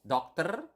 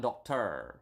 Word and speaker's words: dokter: And then doctor is dokter. Doctor. Remember, in Bahasa, we have covered this in previous lesson. You need to pronounce the R. Okay, so doctor, not doctor or something like that, but dokter. Okay, so with a doctor is dengan seorang dokter.